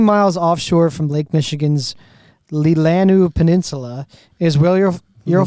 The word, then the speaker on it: Leelanau: all so 16 miles offshore from Lake Michigan's lilanu Peninsula is will you you'll find Leland how do you say that Dan is it legal and all yeah yeah Leelanau Peninsula is where is where you'll find South